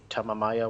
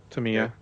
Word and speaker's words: Tamiya: Yeah, I'm gonna have to pick up the, how do you pronounce it? The Tamamaya whatever paint. Tamiya.